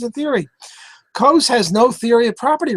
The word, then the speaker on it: Coase: It's pronounced Coase.